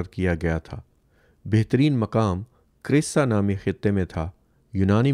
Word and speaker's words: Chryse: سے صرف چند ہفتے قبل کیے گئے تھے۔ کریسا is spelled CHRYSE کریسا۔ وائکنگ 2 کے لیے مجوزہ